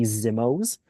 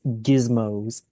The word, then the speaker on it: gizmos: Though I'm not sure if it's because a mic is cutting out or not, but I keep hearing you say Zimmos. It's gizmos, gizmos. You pronounce the G and then Zmo.